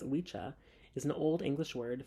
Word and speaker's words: Wicca: as I stated before Wicca properly pronounced as wicha is an Old English